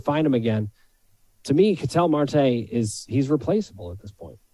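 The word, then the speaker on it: Ketel Marte: Cattell Marte, is that how you say it, Case?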